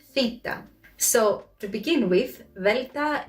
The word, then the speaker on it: delta: so to begin with velta is not delta delta enfita in english